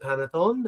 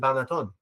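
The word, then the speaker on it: panettone: And, maybe one pronounces it Panaton and one pronounces it Banaton, right?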